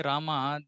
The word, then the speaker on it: Rama: Like, see, the person in Bengal, they're calling him Ramo. Now, if you ask them to say, come say Rama, they will not be able to chant at all.